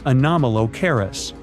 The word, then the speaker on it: Anomalocaris: The name is a bit tricky to pronounce, so I'm not going to. Okay. Okay. It's Anomalocaris, but it just literally means unusual shrimp.